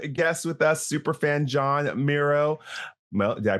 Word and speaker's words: Mierau: Super fan John Mero. Well, did I pronounce that right? I did. Mero.